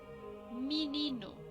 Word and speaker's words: menino: Menino. Este menino significa niño. Está escrito con E, pero los brasileros dicen menino con I.